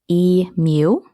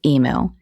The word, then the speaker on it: emu: In Australia, it's pronounced e-mew, but in the US, it's e-moo.